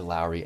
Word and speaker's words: Lowry: Seriously, people forget how good Larry is. They forget, dude. Or Lowry. I say it wrong.